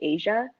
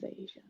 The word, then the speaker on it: Aisha: Like there was another girl in the department whose name was spelled the same way as mine, Aisha, but she pronounced it Asia. And so this professor called me Asia. And I was like, my name's Aisha.